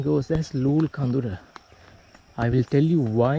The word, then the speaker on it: Loolecondera: lulkondera on many of the maps but the pronunciation goes as lul khandura I will tell you why it is called